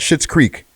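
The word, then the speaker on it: Schitt's Creek: rapper faker's strapper out shit's creek okay and it's spelled s-c-h-i-t-zed right so shit's like the last name that's with um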